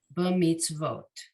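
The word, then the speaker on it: במצוות: short b, and then the tzadi in the middle of the word, it's a silent shva, but that silent shva tells you that's It's ending the syllable, and that vav is going to be a vo.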